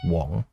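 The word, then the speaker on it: 黃: Year he was a pun on prosperity and yellow in Cantonese which were both pronounced as Wong although not explicitly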